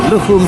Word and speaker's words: Lukhumi: Our stadium announcer, who is Georgian by the way, didn't pronounce the I at the end of Chkhvimiani's given name, Lukhum. So we've been saying Lukhumi, and he just said Lukhum.